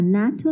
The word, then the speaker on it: NATO: For example, a SAARC company, a NATO member, a NASA member. Though all these words are abbreviations, but we pronounce it like a word.